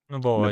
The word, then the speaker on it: Noboa: their president, who I think his name is pronounced Daniel Noboa. Is that right, Joseph? Noboa, yeah.